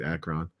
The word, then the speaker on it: Akron: That's how you say it, Akron.